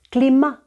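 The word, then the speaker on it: climat: тобто до літери д ми додаємо ще й літеру те яка не читається клімат шадор знову не читаємо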